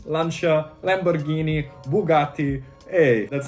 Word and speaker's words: Lancia: needs to be pronounced lancia these are all italian names and need to have the italian emphasis if you are an